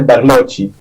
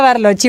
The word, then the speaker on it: Barlocci: bien muy bien gracias mi apellido se pronuncia barochi barochi Entonces yo le venía corrigiendo a Elisa que er Entonces era barochi Bueno está bien barochi